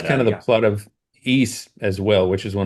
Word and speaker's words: Ys: Um, that's kind of the plot of East as well, which is one of my favorite series. It's YS. Some people say wise, but it's it's pronounced east.